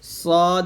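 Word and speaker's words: ص: গুরুত্বপূর্ণ একটা হরফ সদ এই সদ উচ্চারণ করতে করার সময় আমরা সিন করে ফেলি এটা সাবধান থাকুন যেন সিন না হয়ে যায় যেন এটা হবে সদ জবর সদ দুই জের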